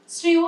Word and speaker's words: শ্রেয়: যুক্ত ব্যঞ্জনের ক্ষেত্রে, মানে যুক্ত ব্যঞ্জন কোনটা? শ্রেয় একটা যুক্তাক্ষর তো, তালব্যস্বয় রফলা, ঠিক আছে, এরকম কোন একটা শব্দ, প্রেরণা, এগুলো কিন্তু সবসময় একার উচ্চারণ হচ্ছে।